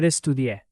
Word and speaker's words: estudié: That accent in estudié matters because it helps signal the past form. Estudié, without the accent, would be a different form in a different setting.